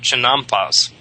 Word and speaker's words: chinampas: all works you have these uh things called chinampas c h i n m p a s